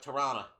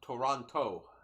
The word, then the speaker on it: Toronto: Canadian slang would pronounce it more like Tirana. Not Toronto, which would be the historic way of saying it.